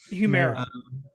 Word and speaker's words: Humira: I think the most famous one, how do you spell it, Joseph, again? Humira or Humira? Humira.